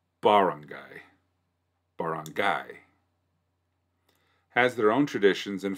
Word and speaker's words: barangay: guide such as this, traditionally one of the syllables need to be in all caps so that we know where the emphasis lies. Typically, I believe in English speaking, by default, the second syllable gets the emphasis. Well, emphasis, like barangay. If it's barangay, then it's R-A-H would need to be capitalized.